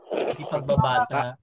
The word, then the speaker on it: pagbabata: nga po ang pag ang pagbigkas diyan pabata pagbabata pagbabata ang ang sa huli sa huling silab Okay so brother Saint